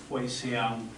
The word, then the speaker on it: Hoishan: Taishan is actually that red area there. Where the dot is in the red area is, in the local dialect, is Huisiang, and I'll explain that in a minute.